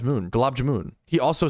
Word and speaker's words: Gulab Jamun: Okay, but from my understanding, it's Gulab Jamun.